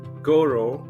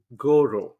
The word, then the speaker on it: Gauvreau: With me today, we have Robin Goro.